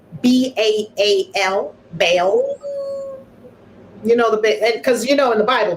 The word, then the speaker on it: Baal: And Baal, can you spell that, Baal? Baal, B-A-A-L, Baal.